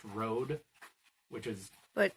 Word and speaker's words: Røde: slash through it so I think it is actually pronounced Road which is but not